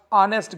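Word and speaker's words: honest: में सारा is dash ऑनेस्ट girl यहां पर हेच को साइलेंट करके पूछा गया है इसी तरह से दूसरे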